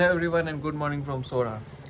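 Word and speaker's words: Sohra: का नाम सोरा है क्योंकि एसओ एच आर ए क्योंकि इसके लोकलाइट्स अभी भी इसको यही बुलाते हैं सोरा एंड ब्रिटिशर्स ने आके इसको चेरापूंजी में चेंज कर दिया क्योंकि अपेरेंटली उनको ये नाम प्रोनाउंस करना नहीं आता था बट इट्स so easy सोरा एंड तो आज मेरा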